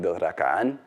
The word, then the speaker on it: Dothrakaan: For example, a nice example is to the Dothraki, Dothrakan, stressed on the last syllable.